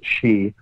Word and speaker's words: Shi: That's, I think her last name is pronounced Shi, S-H-I, actually took some bat feces from a cave in Wuhan province.